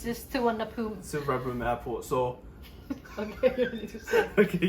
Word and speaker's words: Suvarnabhumi: I always used to think you pronounce it Suvarnabhumi, but it's not No, right. it's just Suvarnabhumi.